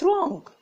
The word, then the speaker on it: wrong: W هنا silent ما بننطقهاش، What's wrong؟